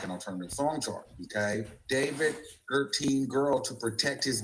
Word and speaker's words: D4VD: David pronounced D4VD pronounced David gained popularity among Gen Z fans for his blend of indie rock, R&B, and lo-fi pop.